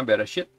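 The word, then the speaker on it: בראשית: Yang pertama Bereshit.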